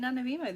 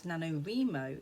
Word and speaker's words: NaNoWriMo: National Novel Writers Month, which I pronounce NaNoWriMo instead of how it's probably pronounced as NaNoWriMo, because I'm just weird and British. Although that's not how all British pronounce NaNoWriMo.